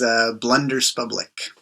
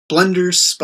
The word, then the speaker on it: BLUNDERSPUBLIK: pronouns, and my stage name, I guess, is BLUNDERSPUBLIK. Nice. Blunders. I'm going to, hopefully I will be able to pronounce it clearly, your moniker. So let me try it. BLUNDERSPUBLIK? Yeah. BLUNDERSPUBLIK.